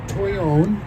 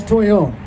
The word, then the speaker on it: Toyon: the rose family are Toyon which is a Spanish pronunciation of a northern California Indian name for the plant a lot of and here here's uh that's coolness okay so this is Toyon the early settlers when